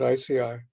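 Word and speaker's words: ISEAI: Integrative holistic medicine and i-s-e-ai is that that I said that correctly I mean that we just pronounce it ICI since they were getting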